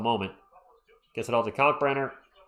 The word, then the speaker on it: Kalkbrenner: Gets it all to Kalkbrenner. I'm trying to say his name, emphasizing the K on Kalk.